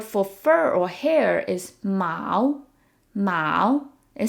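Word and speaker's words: 毛: fur or hair is Mao Mao it sounds like the word for cat but it's a different tone Mao so it's worth noting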